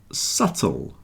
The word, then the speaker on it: subtle: debt doubt doubt and subtle you see they all have something in common they all have the silent B debt doubt subtle debt